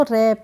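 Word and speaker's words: wrap: नहीं पढ़ेंगे ऐसे ही डब्लू आर ए पी तो रप क्या पढ़ेंगे इसको रप नहीं पढ़ेंगे क्या पढ़ेंगे रप यहां पर भी आर से पहले डब्लू आया है तो यहां पर डब्लू साइलेंट है अब है हमारा डब्लू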